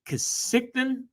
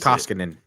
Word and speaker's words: Koskinen: Is it Kasikton? Their goalie, Blue Whalers, 12-6 on the season. Oh, sorry. The Oilers goalie? Mikko Kasik. How do you say it? Koskinen.